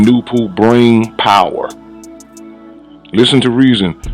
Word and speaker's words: Noopooh: by the mental powers of nature, called Noopooh, pronounced Noopooh, and the writers of this book, who has